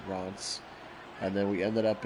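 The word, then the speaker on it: Reims: C but we would it would look like Reams to us but they pronounce it Rants and then we ended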